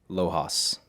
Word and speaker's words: Lojas: gonna say so- Lojas.